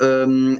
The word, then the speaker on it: Hugo: again sir so um I think English pronounce it Hugo oh Hugo with an H in like it start with an H yeah it starts with an H but in French it's mute so just say U but yeah can you